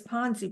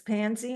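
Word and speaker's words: Panzi: it pansy or Ponzi I always thought it was Ponzi but it's pansy I'm not saying it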